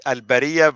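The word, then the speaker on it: البرية: In order for you to read it, al-Bariya versus al-Bari'a. That was very simple. I mean, without it, you won't be able to pronounce it correctly. And notice, when you pronounce it correctly, now you know the meaning of the word. Al-Bari'a, innocent, al-Bariya, creatures. Big difference.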